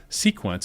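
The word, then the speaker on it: Cequence: Sequence is spelled CEQENCE.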